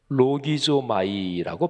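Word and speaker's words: λογίζομαι: 이 여길지어다는 헬라어 발음으로 로기조마이라고 발음하는데, 이 표현을 좀 더 한번 깊이 생각해 보겠습니다.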